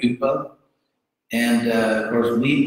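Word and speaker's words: ὑπό: Sanskrit Upa became the Greek Hypo, which the Greeks pronounce Y like a French or German U with the dots over it, so it's like Upa.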